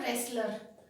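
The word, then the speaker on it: wrestler: Sakshi Malik, W के बाद आर, शी इज अ रेसलर, डब्ल्यू की साउंड ही नहीं आएगी, प्रोनाउंस नहीं करना है यहाँ पे डब्ल्यू को, बिल्कुल कंफ्यूज नहीं होना है।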